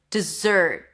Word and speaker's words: dessert: The second one is dessert.